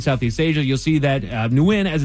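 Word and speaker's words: Nguyen: N guen when that's the way that I always knew it when I was a kid.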